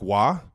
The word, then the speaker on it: Roy: I got Patrick Waugh, also known as Patrick Roy in the Kelce household, because dad only pronounces things one way, his way, a la our last name.